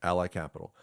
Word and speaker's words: Ally Capital: Let's let's shift to Ally Capital. That's how you pronounce it, right? Yeah. Ally Capital.